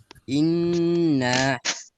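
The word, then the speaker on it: إِنَّ: তাজদীদুল হরফ দুইবার পড়তে হয়। প্রথমবার জজমের মতো, দ্বিতীয়বার নিজ হরকতের উচ্চারণ। হ্যাঁ, তাহলে একটা উদাহরণ আমরা বলি তো সবাই। ইন্না।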